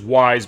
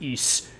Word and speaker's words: Ys: It says Wise, but it's pronounced Ys.